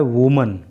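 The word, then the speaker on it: women: होता है एक महिला और जब इसका बहुवचन बनाते हैं यानी कि इसको प्लूरल करते हैं तो इसकी स्पेलिंग हो जाती है डब्लू ओ एम ई एन और प्रोनंसिएशन हो जाता है वमन व एक महिला वमन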